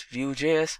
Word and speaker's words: Vue.js: Vue.js is commonly referred to as Vue and pronounced as Vue.js, or Vue is rightly so.